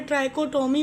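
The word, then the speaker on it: trichotomy: तो पहली प्रॉपर्टी जो हम पढ़ने जा रहे हैं उस प्रॉपर्टी का नाम है ट्राइकोटमी प्रॉपर्टी। क्या प्रोनाउंस करते हैं हम इसे?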